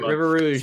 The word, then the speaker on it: River Rouge: River Rouge.